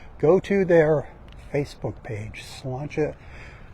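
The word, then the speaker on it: sláinte: to their Facebook page slancha not spelled the way it sounds it's spelled s l a i n t it's an Irish word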